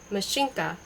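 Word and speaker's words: Машенька: The accent is on the first syllable, with the A pronounced as in ask, and in a palatialized in as in mignon.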